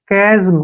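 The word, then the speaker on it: chasm: इसको हम क्या पढ़ेंगे सी एच का क्या बन गया क ए की मात्रा ए हो गया एस से ज की आवाज आएगी यहां पे और एम से म कजम क्या पढ़ेंगे इसको कजम कजम का मतलब क्या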